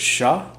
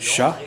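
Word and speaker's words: chats: right after that was Sha c-h-a-t-s Sha you don't pronounce the final consonant that means cats dogs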